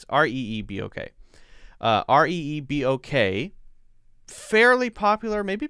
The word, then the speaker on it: Reebok: alright excuse me did i say r-e-b-o-k or r-e-e-b okay r-e-e-b-o-k uh r-e-e-b-o-k fairly popular maybe becoming less popular i don't know that is pronounced let me see if i can pop